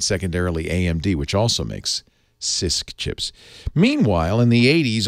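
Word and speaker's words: CISC: chip design from Intel's Intel's chip design is sisk the SI insist stands for complex literally the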